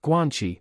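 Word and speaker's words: guanxi: each player's strategies are known and fixed guanchi pronounced guanchi the Chinese practice of valuing personal relationships over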